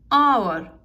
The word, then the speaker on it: hour: Hour, hour, not H. We are not using hour. H is silent here, so N R.